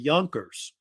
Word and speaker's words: Junker: And the word Junker, it's pronounced with a Y, means in German young lord.